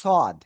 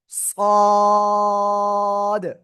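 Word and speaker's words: صاد: সাদ নাকি সদ? জাহাঙ্গীর ভাই, পরে লেখেন ভাই, সবাই একটু পরে লেখেন। এই অক্ষরটার নাম হলো সদ। সাদ না, সদ। চার আলিফ টান হবে।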